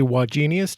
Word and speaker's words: Wagenius: i'm tempted to say why genius do you get that a lot i get that a lot and and to be really precise it's three syllables genius with the emphasis on the middle syllable but i'm not doctor